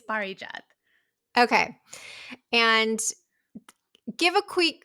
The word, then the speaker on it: Parijat: sure no but you said it great it's Bari jth okay and give a quick quick intro from